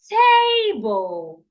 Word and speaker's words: table: way T that's wrong the right way to pronounce it is table table why because the word has more than one syllable in fact the word has two syllables it has t and bull so one of these